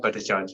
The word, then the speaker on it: Bhattacharjee: And if you want to contact, is that the right pronunciation? Yes, Bhattacharjee, yes.